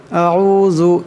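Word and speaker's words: أعوذ: আউযু এখানে জাল আছে, জালের আওয়াজটাকে নরম করিয়া পড়তে হবে।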